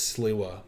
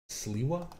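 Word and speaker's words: Sliwa: How the mob tried to assassinate Curtis Sua. Sua. Is that how you say it? Siwa.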